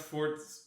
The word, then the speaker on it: Forza: Wait, it's pronounced Forza? It's pronounced Forza.